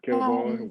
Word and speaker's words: Kevon: It's pronounced Kevon, but you good.